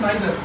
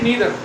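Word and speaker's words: neither: Next है नाइदर, यानी कि नीदर। नीदर या नाइदर दोनों का मतलब एक ही है, जैसे भी मर्जी आप उसको प्रोनाउंस कर दीजिए, कोई फर्क नहीं पड़ता।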